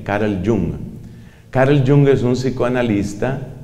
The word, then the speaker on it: Jung: psicoanalista carl jung que se escribe con jota ong carl jung carl jung es un